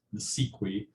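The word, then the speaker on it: NACIQI: the Department of Education with a complicated acronym pronounced NSEQI.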